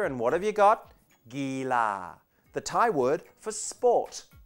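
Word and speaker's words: กีฬา: Gila, the Thai word for sport, gila.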